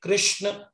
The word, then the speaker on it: कृष्ण: उच्चारण कैसे करना चाहिए इस का सही उच्चारण है हरे कृष्ण हरे कृष्ण कृष्ण कृष्ण हरे हरे हरे राम हरे